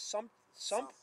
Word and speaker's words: Sumter: How do you pronounce this? Sumter.